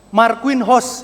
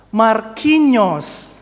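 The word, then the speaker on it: Marquinhos: Kalau baca langsung apa, Bapak, Ibu, Saudara? Mark host. Ya, coba ya kita lihat cara baca yang tepat bagaimana Markinos ya.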